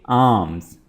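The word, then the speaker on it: alms: आर्म्स, आर्म्स, यहाँ पे भी आपने एल को प्रोनाउंस नहीं करना है और इस वर्ड को आप पढ़ेंगे आर्म्स।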